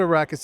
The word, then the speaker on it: Arrakis: ago so anyway you guys spun out a rackets is that how I say it I'm gonna say it right yeah tell me what arrakis is and why it spun out of gelato